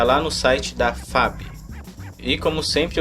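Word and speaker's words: Echo: se trata desse problema já ouvi por aí e xu e show e outras coisas do gênero mas nesse caso a pronúncia correta é eco como aquele carro lá o sport sabe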